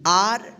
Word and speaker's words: are: आ उच्चारण नियम का, कि जब किसी वर्ड में ए के बाद यानी लास्ट में ए के बाद अंत में आर रहे तो इस ए का क्या उच्चारण करेंगे, आ उच्चारण करेंगे, ठीक है।